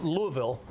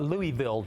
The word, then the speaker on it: Louisville: I go on in Louisville and it's not Louisville Louisville Louisville it's one one syllable I think by the